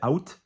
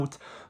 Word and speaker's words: août: So some people say out, some people say ou. It depends if it's more like a Picardy French versus, there is some variation on that pronunciation.